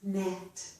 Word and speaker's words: gnat: But at the beginning of a word, if we have G plus N, the G is silent. So we hear only the N sound. This is gnaw. This is gnat.